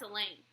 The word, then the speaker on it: Elaine: That's Elaine, I reply. Rhymes with pain.